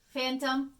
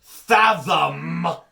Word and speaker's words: fathom: Fathom. Not a phantom menace, not a carnival phantasm, nothing to do with phantoms of operas or other things. Fathom is a very different word. It's not even spelled the same. Bilingual problems, people. Bilingual problems. What excuse is that? PH is not a Spanish phoneme.